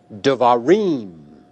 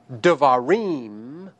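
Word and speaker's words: דְּבָרִים: You also had the word devarim. In the word devarim, reem is the accented or tonic syllable.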